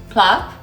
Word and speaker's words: plov: So the pronunciation is P-A-L-O-V, PLOV.